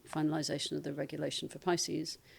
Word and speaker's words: PISCES: And we've just seen uh the finalization of the regulation for Pisces, which is private intermittent securities and capital exchange system regulation where the R is silent.